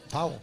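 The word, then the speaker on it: Pawol: How do you pronounce that? Powell.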